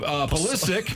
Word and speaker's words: Pulisic: He went We're 9 hammering Christian Pulisic. Christian Pasali. Pulisic. So mad he's mispronouncing the name.